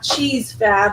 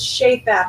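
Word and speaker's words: Chez Fab: me about this and no it's not cheese Fab it's shape app it's French because I'm in Baton Rouge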